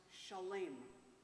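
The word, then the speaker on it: שלם: The word shalom comes from the root shin lamed mem, which is pronounced shalem.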